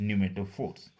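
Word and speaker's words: pneumatophores: पी से spelling start होती है, PNEU, न्यूमेटो, MATOPHORES, न्यूमेटोफोर्स।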